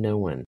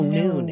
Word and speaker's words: Nowen: Oh, Noon. It's spelled Nowen. Yeah, but Noon is the Irish pronunciation.